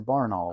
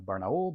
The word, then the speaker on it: Barnaul: have BPZ which is Barnell which actually from what I understand is pronounced more like barul but that's a whole